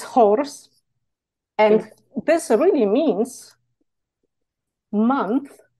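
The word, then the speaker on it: Chors: the god named horse you don't pronounce this C it's horse and this really means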